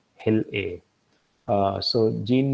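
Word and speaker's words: hilA: one of the genes that's required is called Hill a uh so Gene names would typically have three three letters and then a fourth letter and they're pronounced as hell a and which stands for hyper invasive Locus a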